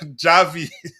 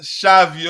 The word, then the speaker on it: Xavi: Um, it it's not pronounced Javi. It's pronounced it's Shiai. Okay. Thank you. Um, big up to you team, my bro. Much love to you, Dante. Javi. Shavei.